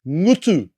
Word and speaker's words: ngutu: The ng is pronounced as in singer. Now you can say this word, ngutu.